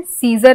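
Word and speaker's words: Caesar: तो सीजर हमें ऐसे लग रहा है जैसे कि हमने अब लिखा है CESAR, सीजर।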